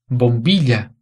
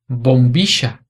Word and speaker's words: bombilla: Na Espanha, a pronúncia dessas palavras seria bombilla, calle, llover.